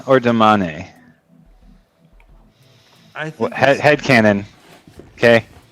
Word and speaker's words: damane: is it Daman or Damane? I think Head canon. Okay. That's what Damani. he says. My head canon has always been Damani. Okay. I don't pronounce the E. I say Damani too, actually.